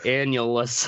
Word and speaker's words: annulus: Annulus. I had to look it up how it's spelled because I just kept it writing analus.